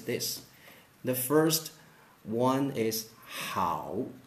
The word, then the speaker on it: 好: So we have another pronunciation of this word, and that is 好. 好. 好. 好. Yeah, with the fourth tone, okay? With the fourth tone. 好.